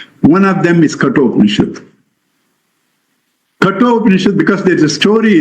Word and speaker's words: Kathopanishad: Kathopanishad, because there is a story in it, people pronounce it Katho. No, it's not a Katha story.